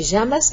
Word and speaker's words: llamas: Be careful when you're doing that, because ¿Cómo te llamas? Means what do you call yourself, but if you make that where you don't pronounce that just strong enough, it may sound like ¿Cómo te amas? How do you love yourself?